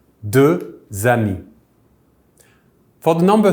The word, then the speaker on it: deux: The number for 2 is deux, spelled D-E-U-X. The X at the end is silent.